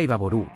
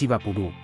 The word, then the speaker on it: Ibapurú: Resulta ser que la palabra Ibaború está mal pronunciada por una españolización de la misma. La palabra correcta es Ibapurú, que es una palabra en guaraní, idioma nativo de Paraguay.